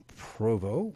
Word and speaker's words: Provost: Just do a search for Aces of Northern Nevada, Dragon Crown Books, or Provo, which is spelled Provost.